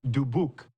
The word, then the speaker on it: DeBuck: Which I always say it, but they say it wrong here. It's Dubuque. But we just say Dubuque. I think it ticks them off, which is even more fun.